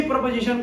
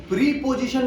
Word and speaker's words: preposition: Okay, सो ये प्रपोजिशन का first part है। सो अब हम समझते हैं प्रपोजिशन क्या होता है, उसका डेफिनेशन क्या होता है। उसको प्रीपोजिशन नहीं बोलते हैं, उसका प्रोनाउंसिएशन प्रपोजिशन होता है।